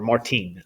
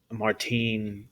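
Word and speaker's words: Martín: martin alonso pinzon uh or martine i guess is probably more so how you would pronounce it in spain uh martin pinzon he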